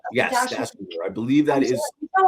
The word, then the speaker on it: Dachinger: and I don't want to say her name again wrong, so I think it's Dachinger. Yes, Dachinger.